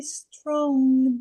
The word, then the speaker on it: strong: Ó, isso aqui é uma sílaba só. Strong.